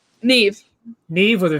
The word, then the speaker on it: Niamh: How do you pronounce your name? Niamh.